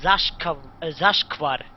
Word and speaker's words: Zashkvar: Anyway, you can pronounce this like, well, you don't have that letter in your language. Oh, no. It's sh. It's Zashkvar.